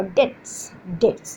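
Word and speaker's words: debts: सो must क्या हो, you must pay your डेट्स, बी इज a silent here, okay. DBTS, बी इज a silence here.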